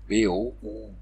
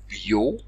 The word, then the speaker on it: beau: dès le 13e siècle donc beau se prononce désormais BO BO ou bio dans les milieux populaires bio est devenu populaire et c'est Boo qui s'est imposé enfin au 15e siècle